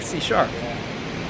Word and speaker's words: C#: Microsoft, which is that C with the hash symbol, the tic-tac-toe symbol, pronounced C#, or you'd be using